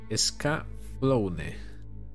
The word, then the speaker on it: Escaflowne: Pronuncia la E al final. Escaflowne.